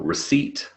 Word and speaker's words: receipt: Yeah, so for example, receipt has a silent P, and then you've got all of the other P words like psychology, psychiatrist, psychological, psychiatric, psychosis, psoriasis.